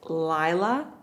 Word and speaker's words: Laila: But can we reprogram her so that she knows her name is supposed to be pronounced Laila, not Layla?